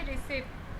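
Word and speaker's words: receipt: रिसिप्ट। पी जो होता है इसमें साइलेंट होता है।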